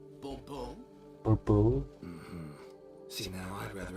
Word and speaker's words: Bourbeau: The emphasis falls on the last syllable. Bobo.